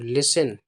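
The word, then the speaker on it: listen: हैं I have to लिसन ये है इसे पढ़ते हैं एल आई एस टी एन लिसन पढ़ते हैं हम लिसन इसमें जो टी होता है यह साइलेंट होता है इसको नहीं बोलते हैं ठीक है एल आई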